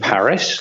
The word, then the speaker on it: Paris: Stella is Stella, and then Paris, like in Paris, France.